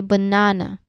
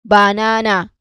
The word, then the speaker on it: banana: It usually use the schwa sound, you know. That's why we say banana, not banana.